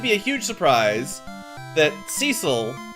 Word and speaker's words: Cecil: a huge surprise that Cecil are sessile I believe is technically the pronunciation well he just turns